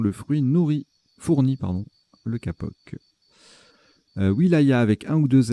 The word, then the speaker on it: wilaya: Wilaya avec un ou deux L. Ah, ça se prononce Vilaya. Ben, vous voyez, je le découvre. Petite découverte. Donc, on dit Vilaya.